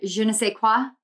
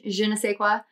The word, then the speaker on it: je ne sais quoi: It's, I think it's a je ne sais quoi is how you say it in French, je ne sais quoi.